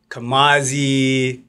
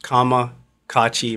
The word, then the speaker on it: Kamakacci: you pronounced it right so it's kamaki because a lot of times people say kamazi kamachi this that and the third it's pronounced Kama Kachi my name is kakachi